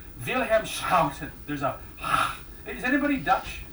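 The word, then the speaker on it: Willem: I am not Dutch, so I'm gonna say William Shoutton. If you're Dutch, it's Vham.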